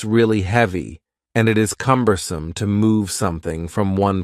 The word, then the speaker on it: cumbersome: The word cumbersome has 3 syllables, and the stress is on the first syllable, cumbersome, cumbersome.